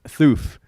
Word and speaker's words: Thoof: But then we came around got an email by a company named Thoof. Oh, when we started doing yeah, custom content. What came first, Thoof or Greenlee?